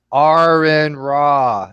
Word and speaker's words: Aron Ra: By the way, if anybody cares, it's Aron Ra. Everybody say it now. Aron. One I already R. know how to One pronounce R.